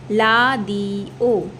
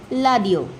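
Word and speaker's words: 라디오: So this becomes la di o. Alright, la di o. So the Koreans will not say, they cannot say radio, they will say la di o.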